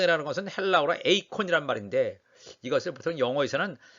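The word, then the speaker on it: εἰκών: 때가 있었습니다 성 성 이라는 것은 헬라 오라 에이콘 이란 말인데 이거 3부터 영어에서는 아이콘 이라고 이렇게 발음합니다 에이콘 아이콘 이란 말은 우선 된것이 우상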